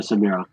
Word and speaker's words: Samira: Samira. Samira, yeah. Yeah, Samira. This is how Americans say it, Niels.